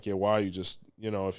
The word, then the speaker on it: Yewa: So let's say someone is crowned 𝘃𝗏𝗿𝗏 or Yewa.